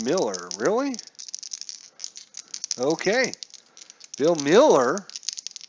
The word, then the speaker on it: Mueller: are it is pronounced Miller really okay Phil Miller even though it looks like Mueller all right the other